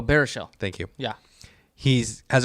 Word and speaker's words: Baruchel: I can't ever pronounce his last name. Bruchel. Oh, Baruchel.